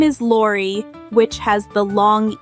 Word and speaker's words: Lori: It is spelled L-O-R-I and is pronounced Lori.